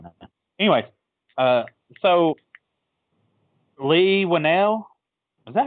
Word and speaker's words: Leigh Whannell: Anyways, so Leigh Whannell, is that how you pronounce his name?